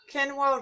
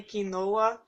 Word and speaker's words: quinoa: and she said that in Brazil they do say quinoa. So the quinoa is like the American version of how you say that. So I don't feel so bad at pronouncing it in a different way.